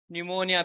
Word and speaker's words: pneumonia: Streptococcus pneumonia, P is silent here.